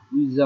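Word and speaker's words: 의자: যে আমরা শিখেছিলাম উইজা, উইজা মানে চেয়ার, আর উইশা মানে ডাক্তার, ঠিক আছে। কেউ চেয়ারকে ডাক্তার বানায় না, ডাক্তারকে চেয়ার বানায় না, একটা হলো দন্তা শব্দ আর একটা হলো বোরকা শব্দ, উইজা আর উইশা।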